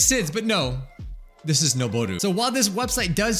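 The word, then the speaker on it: 上る: It's noboru. Like, why? If this is ageru, why is this not aru? Right? That just makes sense, but no. This is noboru.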